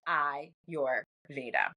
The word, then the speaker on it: Ayurveda: science of life and it's pronounced I your Veda okay and it's derived